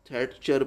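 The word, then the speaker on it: Thatcher: पहले वो बात करते हैं मार्गारेट थैटर, ये थैटचर ये आपने प्रोनाउंस कर लेना है।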